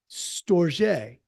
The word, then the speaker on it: Storge: Storge, that's how it's said.